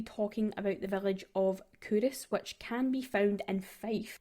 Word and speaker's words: Culross: So it's looks like it's pronounced KO, but it's actually Curus.